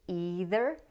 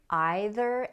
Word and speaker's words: either: Most people in North America say either and neither, but some people say either and neither, which is the more British pronunciation.